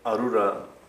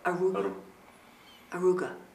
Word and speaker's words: Arura: Almost every like medicine, Arura is used. And it's, how do you say it again? Arura. Aruga.